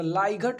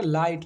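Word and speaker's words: light: यही प आया ना जीएच साइलेंट लेटर का कितना रोल है अगर हम लेटर टू लेटर पढ़े तो ला घट हो जाएगा लेकिन क्या फायदा पढ़ने से क्योंकि हमें हम जानते हैं हम सब जानकार हैं कि जी तो साइलेंट है तो साइलेंट को तो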